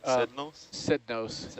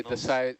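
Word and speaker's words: Psednos: How do you say that, Chris? Sednos? Sednos. Yeah, Sednos. the P would be silent.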